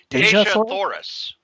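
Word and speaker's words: Dejah Thoris: Cory, and tell me if I'm pronouncing this right. Deja Thoris? Deja Thoris.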